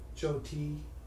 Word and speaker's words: Joti: Joti. It's like her name is pronounced Joti. Kind of like the name Jodie, but instead of a D, it's a T.